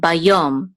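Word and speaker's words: ביום: So this is yo, yo, and this is a mem sofit. So together the syllable is yom, bayom, and yom means day.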